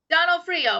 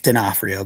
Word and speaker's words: Donofrio: Donald Freo. Am I saying it correctly? It's Drio, but it's all right.